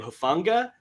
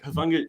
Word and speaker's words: Hufanga: I think you pronounce his name Hufanga.